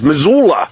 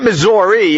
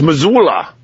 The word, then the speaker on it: Missoula: the the town names Missoula Missoula not Missouri it's Missoula he's in Missoula anyway uh we got